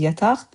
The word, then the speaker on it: yataq: Like I said, the word itself is yataq, but when you add it next to another